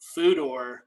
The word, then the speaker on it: Pfudor: This is the ever elusive Foodor IPA, which to our viewing audience, it's spelled PFUDOR.